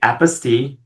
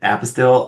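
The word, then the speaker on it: apostille: they actually have the phonic spelling out and they said this is why it's pronounced this way because it's French and it's apaste and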